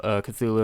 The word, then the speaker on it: Cthulhu: answer is really right you can say it however you want but uh since cthulhu is the most common pronunciation that's what we're